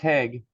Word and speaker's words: Haig: Steve, is it Hog or Haig? Or did I totally miss it? And if you could unmute, that would be great. It's pronounced Haig.